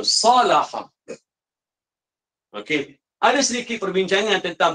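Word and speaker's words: صلح: Dibacanya salaha. Okey. Ada sedikit perbincangan tentang baris. Tapi banyak dibacanya salaha. Okey, ada yang baca saluha. Tapi banyak yang baca dalam kamus sebut salaha.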